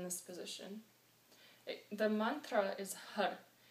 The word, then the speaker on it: Har: It's H-A-R. But the important thing to realize is that you don't say it like car. You say it with the tongue hitting the top palate of your mouth, right in the middle, when you say the R, and pump your belly.